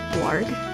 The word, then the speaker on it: Ward: looking at her face Ward the x is silent also I really